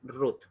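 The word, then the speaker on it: רות: que se llama Shuruk, le da un sonido de U a la Bab, por eso se pronuncia Ruth, ¿ya?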